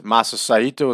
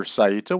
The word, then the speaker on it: Saito: larry zabisko there is masasaito is going to be with him or mr saeeta whichever way you'd like to pronounce it both are acceptable there's eric bischoff and